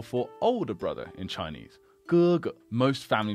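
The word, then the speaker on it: 哥哥: It's heavy, it's voiced, whereas the G in Chinese is more like the K in skill, skill, skill.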